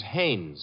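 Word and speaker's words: Haines: used to fish out no no no not Hines hannes couldn't be Huntingburg no it couldn't be the name is hannes h a i n Hanes give me your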